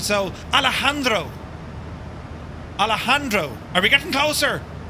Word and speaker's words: Alejandro: It's like jalapeno. Ah, right, we're learning now together. It's a soft J. It's like yogging.